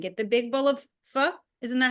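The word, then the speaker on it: phở: If you go to a Vietnamese restaurant and get the big bowl of fu, isn't that how you say it?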